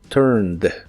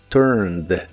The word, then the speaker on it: turned: Aunque de estas dos letras solo pronuncias la D, turned, turned, y lo puedes usar